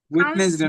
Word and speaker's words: Wednesday: Saturday, Sunday, Monday, Tuesday, Wednesday, Wednesday না, Thursday, sound হবে Wednesday, not Wednesday না, Wednesday.